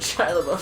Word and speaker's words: Shia LaBeouf: a booth concern about the back views and shia labeouf so many times oh you said it right